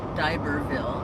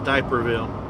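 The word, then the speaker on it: D'Iberville: Close haha d-i-b-e-r Bill Diberville I said it right okay watch it I thought it was diaperville playing folks Kathy Rich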